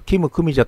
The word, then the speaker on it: 金久美子: ていました金久美子さんはキム組者と読むそうで在日韓国人 3 世